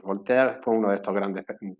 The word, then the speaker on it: Voltaire: Voltaire, o si lo pronunciamos en francés, Voltaire, fue uno de estos grandes pensadores y defensores de la libertad de conciencia y de la tolerancia.